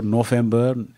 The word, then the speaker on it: November: Octobre, November, N-O-V-E-M-B-E-R. Parce que le V se prononce comme un F.